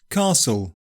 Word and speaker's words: castle: Silent T With so many different pronunciations flying around, it's easy to forget that sometimes we simply don't say the t: GOURMET CASTLE LISTEN And it's optional in OFTEN, yeah people often drop the T there.